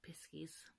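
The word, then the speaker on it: piskie: because they referred to as Cornish Pixies not piss keys probably cuz piss keys sounds rather rude but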